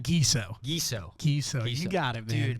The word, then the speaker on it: Giesow: gizo thank you so much for did I pronounce it right gizo gizo gizo you got it man dude man